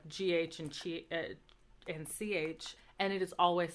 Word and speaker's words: hai: And then to say you have, it's spelled HAI, but it's pronounced like A.